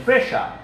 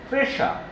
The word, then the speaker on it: pressure: Dear learner, notice my pronunciation, pressure. The spelling is S-S-U-R-E, but the pronunciation is pressure.